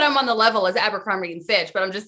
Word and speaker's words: Abercrombie: you pronounce it like my mom still can't say abercrombie she says amber grumpy and i'm just avoid